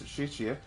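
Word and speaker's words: 谢: Is it xie or xie? And she corrected me, it's xie.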